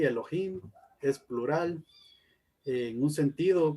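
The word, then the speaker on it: אֱלֹהִים: y aquí nos dice la pronunciación es así elohim es plural en un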